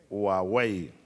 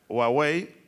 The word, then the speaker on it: Huawei: ¿Cómo se pronuncia? Huawei. Huawei, porque ya firmamos el compromiso para instalar aquí con transferencia tecnológica una fábrica de teléfonos celulares.